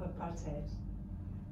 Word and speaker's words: apartheid: nationalisms and what liberals cleared the consequences of Apartheid which is pronounced apartheid and what Ellen paid them I